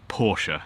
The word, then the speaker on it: Porsche: Porsche sorry firstly let's get the name right Porsche I will try I promise I'll try and